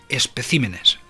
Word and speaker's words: especímenes: El singular de esta palabra es espécimen y en plural especímenes.